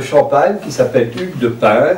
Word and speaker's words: Payns: C'est un seigneur de Champagne qui s'appelle Hugues de Payns, ça s'écrit P-A-Y-N-S, on peut dire Payens aussi, ça dépend des prononciations, qui avec son beau-frère